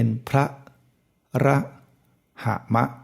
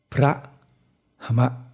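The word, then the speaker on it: พรหม: จะ กลาย เป็น ว่า ถ้า เรา ออก เสียง สระ อะ ทั้ง หมด มัน จะ เป็น พระ ระ หะมะ นะ แล้ว ก็ แต่ จริง ๆ ไม่ ถูก มัน ต้อง ออก เสียง ให้ ครึ่ง เดียว เพราะ ฉะนั้น มัน จะ เป็น พระ หมะ พระ หมะ นะ แต่ ทำไม บาง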